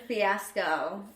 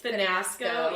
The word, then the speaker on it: fiasco: Mispronounced lingerie. Lingerie. And fiasco. It was finasco.